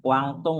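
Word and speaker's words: Guangdong: Nah, kalau bahasa Mandawinya dibacanya kuangtung ya, Bapak, Ibu ya.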